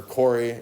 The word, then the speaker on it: query: That's how you pronounce the word, is query. Some people say query or query.